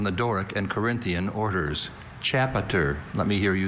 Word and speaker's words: chapiter: Once again, it hinges on the schwa in that middle syllable. That sound that could be any vowel.